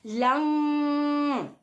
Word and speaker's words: लं: का उच्चारण करना है वो है लंग, बट उसको लंग होता है, LAM ही है, बट हम उसका उच्चारण कैसे करते हैं? लंग।